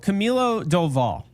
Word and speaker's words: Camilo Doval: So Camilo Doval, and that's what I was told that is the pronunciation.